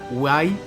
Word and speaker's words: WEE: Apoya iniciativas junto a UI, que se escribe W o WEE Ventures para promover el crecimiento de femile founders en el ecosistema.